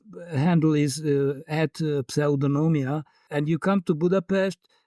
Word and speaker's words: Pseudonomia: I can't give your name proper pronunciation with my American tongue here. No, I, it's okay. As you like. Pseudonomia. So Pseudonomia. yeah. Close.